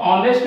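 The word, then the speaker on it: honest: ये ऑनेस्ट है, तो ऑनेस्ट में ओ, एच साइलेंट होता है, ऑनेस्ट में ओ।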